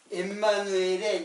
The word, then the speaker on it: 임마누엘: 그리고 임마누엘. 이제 원래 발음은 엠마누엘이에요. 근데 이거는 하나님이 우리와 함께 계시다. 자, 이게 이제 엠마누엘의 이제 뜻이고, 이것도 역시 예수, 처녀가 잉태의 아들 낳으니 그 이름을 임마누엘이라.